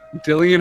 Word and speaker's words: Dillian Harper: Because Go to That's- YouTube, Dillian Harper pronunciation, because people make those videos. no, you're totally right. It is Dillian. I thought that was just the word Dylan. That's So our what I web- thought.